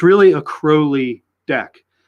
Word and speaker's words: Crowley: This guy, a lot of you know him, Aleister Crowley, not Crowley. He says Crowley rhymes with holy.